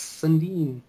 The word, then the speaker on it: Sundin: Oh, Sundin, is that how you say it? Yeah, Mats Sundin.